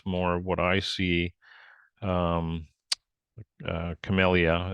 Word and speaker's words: Camellia: Um, Camellia, it's the proper pronunciation, but Camellia enjoying is some relief from the sun.